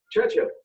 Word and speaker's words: Churchill: Churchill, that's how you say it, all together like that.